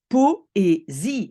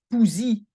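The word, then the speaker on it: poëzie: Même chose pour poésie, c'est poésie et ce n'est pas poesie. D'accord?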